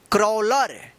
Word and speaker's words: crawler: यानी एक के जस्ट बाद अगर W आता है तो इस ए का क्या उच्चारण होगा, औ उच्चारण होगा।